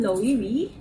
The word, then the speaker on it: Loewe: So this is from Loewy. Yun yung pronunciation niya.